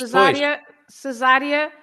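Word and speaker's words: Cesária: Cesaria also with an accent on the A, right? Okay, on the first A, Cesaria. Otherwise, you would read, how would you read if it's no accent and ending with an IA? Cesaria. That's right. You would read Cesaria. So not to read Cesaria, you put an accent on the first A and then it's Cesaria.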